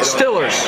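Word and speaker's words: Steelers: I call them Stillers. That's the way they pronounce it. Stillers. Yeah, they don't know what an E is in Pittsburgh. There's no such thing in the alphabet. There's only 25 letters. E is missing.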